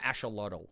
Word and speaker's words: axolotl: Or the axolotl is what you told me is how you say it.